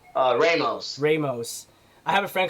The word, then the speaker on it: Ramos: Ramos.